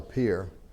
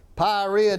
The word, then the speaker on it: Pierre: name, he says, Pyorrhea D. And I answered to it. I didn't want to, I'd let him call me whatever he wanted to. But yeah, I pronounce it Pierre, like Pierre, South Dakota.